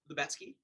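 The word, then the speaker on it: Lubetzky: Lubetsky.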